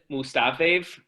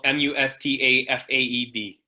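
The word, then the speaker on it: Mustafaev: don't know who is it a mega med mustafe that's definitely not right how is it based on your pronunciation i don't know who that is either but his last name is spelled m-u-s-t-a-f-a-e-b mustafa oh good job i've heard of him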